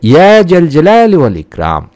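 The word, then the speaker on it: يا ذا الجلال والإكرام: দয়া ও এহসানের অধিকারী যেভাবে আপনারা এই নামটি পড়বেন উচ্চারণটি হচ্ছে ইয়া জাল জালালি ওয়াল ইকরাম অর্থ হে মহামহিম ও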